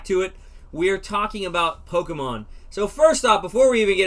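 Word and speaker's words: Pokémon: in the south um it's poke and then think about it like this the letter a mon so pokemon that's how you say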